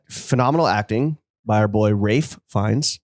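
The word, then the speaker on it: Ralph Fiennes: acting by our boy Rafe fins that's how you pronounce it please don't touch my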